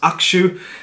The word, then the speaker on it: Hakushu: Now, I have been told it's pronounced Akshu, so you missed the little middle bit, but the way it's spelled, slightly different from the way it's pronounced.